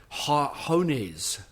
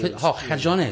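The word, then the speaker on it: cojones: Hones. I've never heard that. Hones? Cajones, balls. Cajones.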